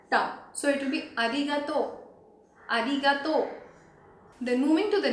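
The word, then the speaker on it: ありがとう: In arigato, the letter R is pronounced somewhere between R and L. It is like R. Arigato. So it is not similar to the letter R in English where our tongue twists completely, but our tongue has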